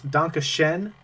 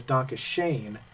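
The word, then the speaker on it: Danke schön: by wayne newton now my german-speaking friend ian um said that it's danke shen though of course it's pronounced over and over again by mr newton as donkey shane and uh that was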